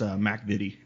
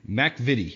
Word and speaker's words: MacVittie: name is that right Mac evade it's actually Scottish so it's Mac MIDI Mac vide okay AJ is with